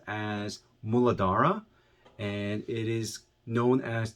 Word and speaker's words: Muladhara: the root chakra in sanskrit is understood or pronounced as muladhara and it is known as the root chakra